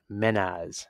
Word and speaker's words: Mehnaz: Menaz.